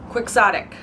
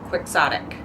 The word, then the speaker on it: quixotic: school and we read Don Quixote why are we not pronouncing it Quixote why quixotic Quixote Don Quixote quicksonic who did that who was in charge of that conversion I'm not a fan